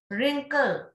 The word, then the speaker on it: wrinkle: Wrinkle, W and E.